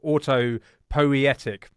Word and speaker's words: autopoietic: about um uh now we have to be very careful how we pronounce this words Auto poetic is that right Maxwell that's right yes amazing um give me